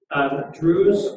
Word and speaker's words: Druze: So that's a small segment called Druze, but again, kind of their own little area. Did you spell that word?